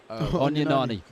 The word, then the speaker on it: Onyenani: Poor pronunciation. Onyenani.